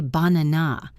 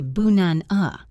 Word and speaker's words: banana: Take the word banana. We don't say banana, we say bunan-a. The first and last ah sounds turn into a lazy The word today is not today, it is today.